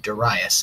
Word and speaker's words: Darius: In 512 BCE, a Persian emperor named Darius the Great, yes, his name is pronounced Darius, and that might sound pretentious, but that's how you're supposed to say it.